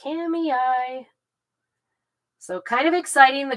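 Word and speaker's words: Kamiah: It's spelled Kamaya, I think, if you did it phonetically, but around here they call it Kamei.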